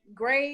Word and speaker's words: Grae: And Gray is spelled Grae.